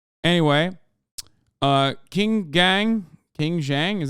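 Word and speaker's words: Qin Gang: nerd anyway uh King gang King Zhang is how you say is the highest level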